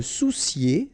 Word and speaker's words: soucier: Se soucier de. Okay, O and U together. Ou soucier. Se soucier de.